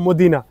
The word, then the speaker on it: Mdina: খেলার জন্য তো বন্ধুরা এটাকে ইংলিশে বলে এমডি না আর বাংলায় যদি উচ্চারণ করেন তাহলে হবে মদিনা প্রথমে আমি শুনে অবাক